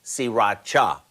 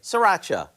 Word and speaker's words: sriracha: It's actually pronounced sriracha, but most of us just say sriracha.